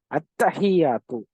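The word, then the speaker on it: التحيات: அத்தஹியாத்து. அத்தஹியாத்து அப்படின்ற இந்த வார்த்தையில என்ன இருக்கு? லாம் இருக்கு. அத்தஹியாத் நம்ம ஓதுறோம் இல்லையா டெய்லி? அத்தஹியாத் அப்படின்றதுல லாம் இருக்கு. ஆனா அந்த லாம நம்ம வாசிக்கல.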